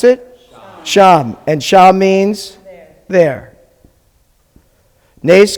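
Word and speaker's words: שָׁם: How do you pronounce it? Sham.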